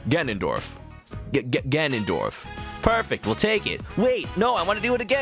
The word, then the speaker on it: Ganondorf: like am I saying it right Ganondorf get Ganondorf perfect we'll take it wait no I want